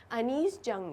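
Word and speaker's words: Anees Jung: इसे लिखा है अनीस जंग ने। स्टूडेंट्स, ये एक इंडियन राइटर रही हैं, इसलिए इसका प्रोनाउंसिएशन हम ऐसे ही करेंगे, अनीस जंग।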